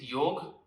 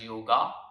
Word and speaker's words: Yoga: The second one is Yog, popularly known as Yoga, but Yog is the right pronunciation.